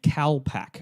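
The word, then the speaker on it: kalpak: in our downtime and that's called a cow pack I might be pronouncing that wrong k a l p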